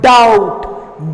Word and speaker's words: doubt: 9th one, doubt. B is silent there.